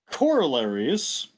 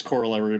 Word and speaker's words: corollary: in mathematics we usually refer to those as corollaries which i highlighted right there but i also want to stress that corollary is the incorrect pronunciation of this the correct pronunciation is co-roll arie um everyone says corollary but apparently the right way of pronouncing it